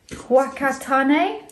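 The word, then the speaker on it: Whakatāne: I write to you from Whakatane, pronounced Whakatane.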